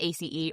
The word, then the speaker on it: ACE: And that's ACE Armstrong, which we might pronounce Ace, except for that you can spell that as a word, and they didn't. So I'm going to say ACE.